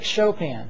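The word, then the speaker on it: Chopin: pianist of the era Frederick chopan now in your if you're reading the text it looks like choen but it's a French name and so it's pronounced chopan Frederick chopan he was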